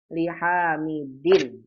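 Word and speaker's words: لِحَامِدٍ: Bacanya bagaimana Ustaz? Bacanya li, ha, mi. Asalnya dun jadi li hamidin.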